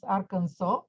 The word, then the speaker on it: Arkansas: i will start again the pronunciation of arkansas is very strange is is arkansas but we pronounce arkansas this is the place